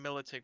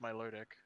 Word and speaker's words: Milotic: ticket milotic oh see i like saying military but i know it's my luridic because militech just has